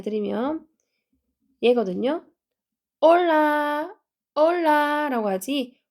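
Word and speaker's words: hola: 설명을 해 드리면 예거 올라 라라고 하지 홀라라 안 해요 여기 h 소리가 안 나기 때문에 여기서부터 시작해서 올라 오에 강해 주시고 올라 올라 이렇게 하면은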